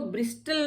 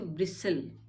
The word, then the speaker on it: bristle: अब देख रहे हैं आप, T L से पहले है तो हम इसको ब्रिस्टल नहीं पढ़ते हैं, इसको ब्रिसल, ब्रिसल। इसमें T साइलेंट, क्योंकि L से पहले T है, वो नहीं, T नहीं बोला जाता है, वो ब्रिसल हो जाएगा, T साइलेंट।